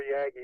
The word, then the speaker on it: Yagi: And now, Curly, hopefully you've got that Yagi pointed right up here. Yagi, I prefer Yagi as the pronunciation, but now you're just